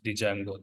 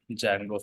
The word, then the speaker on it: Django: learning Jango framework so in this word Django D is silent we should not pronounce Django that is not the right approach D silent you have to say it as Jango framework okay first let